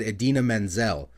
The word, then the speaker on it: Idina Menzel: did call her but he should have said Idina Menzel so I guess we can say that one